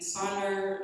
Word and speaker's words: Sonder: And Sonder, you can think about it like rhyming with wonder and maybe something else.